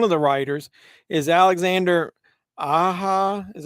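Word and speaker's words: Alexandre Aja: written by one of the writers is Alexander aha is how you pronounce it Aja how you pronounce that with the J do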